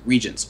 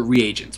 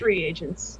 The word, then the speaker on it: reagents: to summon it if you have the correct regents or reagents, whatever you prefer as a term. Reagents, because that's how it's pronounced correctly. It's reagents.